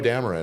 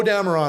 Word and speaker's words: Dameron: And I was like, well, it's spelled like Cameron, but with a D in front.